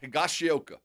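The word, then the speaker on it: Higashioka: Higashioa.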